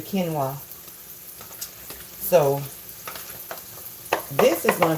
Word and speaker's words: quinoa: They pronounce it different, but this is, well, in the store it looks like, in how it's spelled, it looks like it says quinoa, but it's actually quinoa.